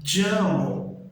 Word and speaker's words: llamo: por décadas e gerações, não é a ideia do som de LH, ok? Se eu quiser falar eu me chamo, eu vou falar yo E existem algumas regiões que utilizam o som do LL como um som de I, ok?